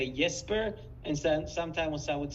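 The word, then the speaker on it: Jesper: incorrectly I've been just pronouncing every Scandinavian name that begins with the J with a yes sound so but here here's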